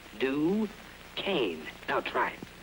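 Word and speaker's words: Duquesne: say I'll have a dues oh pardon me sir it's pronounced duain do Kan now try it d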